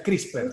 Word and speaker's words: CRISPR: Lo pueden buscar como CRISPR, me puedo haber equivocado en el spelling, pero se pronuncia CRISPR abajo.